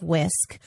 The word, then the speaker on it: WSCC: So when we see this mental health bill being introduced, this completely aligns with the agenda of Whisk, pronounced much like a kitchen whisk, but WSCC, where first